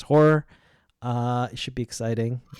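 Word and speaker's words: HO99O9: We Escape by Horror, spelled HO9909, but pronounced as Horror.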